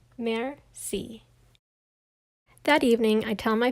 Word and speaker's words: merci: he says pardon me i teach everyone how to say thank you in french it's merci you say it like this mer see that evening i tell